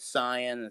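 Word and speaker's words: Saiyan: your list goes uh the saying arc or the scion arc i just want to say cyan that is the correct pronunciation 21st tournament frieza cell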